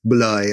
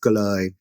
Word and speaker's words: trời: And trời, the word trời, like heaven could have been pronounced bloi as well, and sometimes even pronounced gloi.